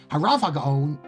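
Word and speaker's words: הרב הגאון: Harav Hagaon, the stress is on the Rav.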